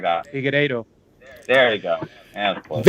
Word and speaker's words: Figueiredo: Figueiredo.